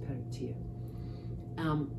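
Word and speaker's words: Peredur: Peritir, who, of course, it's spelt Peritur, but it's pronounced Peritir.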